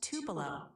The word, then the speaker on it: Tupelo: It's pronounced Tupelo.